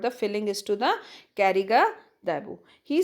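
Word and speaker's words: Karigadabu: Children, Kari Gadabu means Kariga Dabu. It means, actually it is pronounced as Kariga Dabu.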